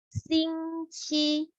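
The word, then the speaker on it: 星期: In Chinese, we say 星期. So it sounds like singing, sing, for the cheese, 气, 星期.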